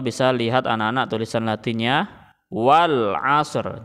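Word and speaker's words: Wal 'Asr: lihat anak-anak tulisan Latinnya Wal Ashr jadi bacanya seperti itu Acer jadi tidak usah dibaca walasri jangan ya karena kita waqaf atau berhenti rinya tidak dibaca tetapi diberhentikan caranya Wal Ashr seperti itu Wal Ashr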